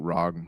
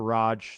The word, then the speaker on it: ROG: That's the the other ROG Rog. How do you say Rogue Rag Alex? Yeah. Some people call it the Raj. Some people call it the ROG. I call it the Rag uh Rag Alli X.